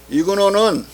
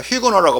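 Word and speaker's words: Huguenot: 위그노는 칼뱅니스트 종파를, 칼뱅니스트 개신교파를 위그노라고 프랑스에서는 그렇게 불러요. HU인데 앞에 H 발음 안 하니까 휘그노라고 하면 안 되고 위그노인데, 랑트 칠령은 이 개신교와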